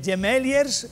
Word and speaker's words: Gemeliers: Por ejemplo, ¿cómo se dice gemeliers, gemeliers, gemelililis?